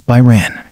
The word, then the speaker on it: Brian: Brian is pronounced as Byron.